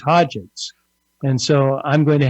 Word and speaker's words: Hodgetts: I've been pronouncing it as it's spelled, Hodgetts, and now you tell me it's Hodgetts.